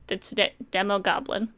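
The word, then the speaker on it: Demogoblin: And I love the reveal of, like, it's a demo goblin, right? That's what they call it. Was it just Demon Goblin? Mm-hmm. Yeah. Oh, there's no N. It's Demo Goblin.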